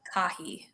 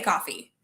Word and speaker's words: Caughie: simple every single platform it's my name kahi you were close by the way kirk oh no did i mispronounce it it's okay it's okay a lot of people say coffee but it's it's okay i need to get